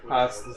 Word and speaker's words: Hasuku: is Hosku? being able to not even have it. that's not how you say it. Hasuku.